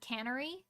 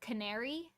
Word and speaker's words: canary: pronounced Canary wrong cuz she said caner like a can factory like a can AR and I was like it's not that bad but it would sound better if you said Canary because that's more widely accepted